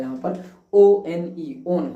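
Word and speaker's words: -one: लगा देते हैं ओन ओन ओ एन ई ही लगाते हैं ये वन नहीं होता ये ऑन पढ़ा जाता है यहां पर ओनई ओन हो जाता है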